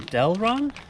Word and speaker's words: Delrin: upgrade to the truck we're gonna put in delron that's how you pronounce it uh power steering rack bushings uh